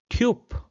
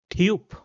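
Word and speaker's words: Typ: So in order to understand the pronunciation let's replace the obsilon with a y and a u then I will pronounce it as tup tup which means guy.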